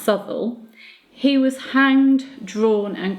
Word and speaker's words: Southwell: Roberts Sybil now he's felt south well but south well is normally pronounced subtle he was hanged drawn and quartered at Tyburn